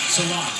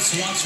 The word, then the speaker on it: Sillakh: You know, you look at the name Sillakh, it's spelled S-I-L-L-A-K-H, almost like silk.